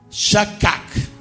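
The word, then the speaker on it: שַׁחַק: Shaqac, así se pronuncia.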